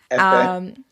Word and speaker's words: Hifi: He's been featured in the Hifi magazine. Am I pronouncing that right, Kofi? Yes, correct. Hifi? Hifi.